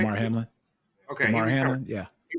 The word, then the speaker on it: Damar Hamlin: Damar Hamlin.